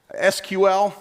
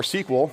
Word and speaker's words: SQL: be like everyone right SQL or SQL depending on how you say it is the first way